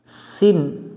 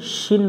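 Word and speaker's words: سين: শীষ দিয়ে পড়তে হয় সিন এভাবে উচ্চারণ করতে হবে শিন পড়া যাবে না অক্ষরটাতে কোন নাই এ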